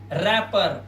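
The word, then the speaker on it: wrapper: इसी तरह से यहां पर देखिए रैपर आर से पहले क्या है? डब्ल्यू साइलेंट है।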